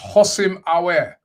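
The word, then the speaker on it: Houssem Aouar: Inoma saying it's pronounced Hosim Awer. Hosim Awer. Sorry. Awer. That's how it's pronounced.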